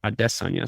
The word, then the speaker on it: Adesanya: probably gonna fight desna I'm trying harder to pronounce his name right they kind of drilled AIA into my head but he keeps saying like it's adess Ona so I'm trying Izzy